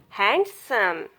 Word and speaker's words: handsome: This not pronounced in these words. Handkerchief, handsome, sandwich, Wednesday.